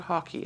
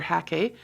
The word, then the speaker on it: hake: It's called hockey. I've been pronouncing it wrong, apparently. I've been saying hake or hake. I've learned that it's called a hockey brush, just like hockey, the game we play.